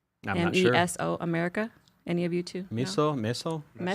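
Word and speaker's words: Mesoamerica: And um the agavei had been part of life in is it called miso America? Is that how you pronounce it? M e s o america America.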